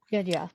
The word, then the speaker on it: Genya: Genya, yes. Say it again. No, I just realized I mispronounced his name. Genya, you're right.